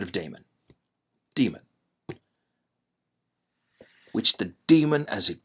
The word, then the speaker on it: daemon: route which the daemon, which I will from now on pronounce as demon, but it is written with an AE, as in Aesop, as in AE, right? But we'll say demon. We'll say demon. We're going to say demon instead of daemon.